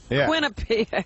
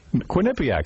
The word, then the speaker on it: Quinnipiac: do some college show in quinnipiac winnipeg quinnipiac that's how you say it it's quinnipiac yeah quinnipiac that's right am